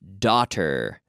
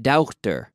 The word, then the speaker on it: daughter: cheese right Etha Etha daughter daughter not doctor but daughter Iike daughter conmigo daughter throws bethis daughter daughter doctor two syllables daughter okay I don't